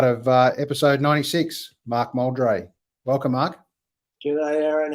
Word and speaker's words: Moldre: of your name correctly I was actually gonna say that you're one of the few yeah right first go fantastic that's great I get molder and muldry and lately because of